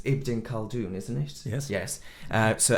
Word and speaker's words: Ibn Khaldun: But you actually selected, and now pronunciation's Ibn Khaldun, isn't it?